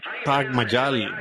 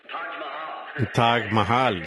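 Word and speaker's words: Taj Mahal: paré en el hotel en el tag T tag Mayal. Supongo que Billy, ¿cómo se pronuncia? Billy, ¿cómo? Billy Paul, ¿cómo se pronuncia eso? Hotel Tag Mayal. Tag Mahal, sí, en todo caso.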